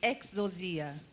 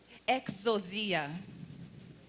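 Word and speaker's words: ἐξουσία: autoridade traduzida do grego ela fica como a pronúncia chama exos Fala aí exos exia exos exia Fala de novo para você não esquecer exos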